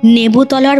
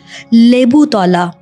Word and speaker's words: লেবুতলা: কাবলিওয়ায়ালার দল কাবুলিওয়ায়ালারা থাকে লেবুতলার মোড়ে খেয়াল করবে জায়গাটার আসল নাম কিন্তু লেবুতলা কিন্তু উত্তর কলকাতায় উচ্চারণে সেটা হয়ে গেছে লেবুতলা কাছ দিয়ে গেলে ভয়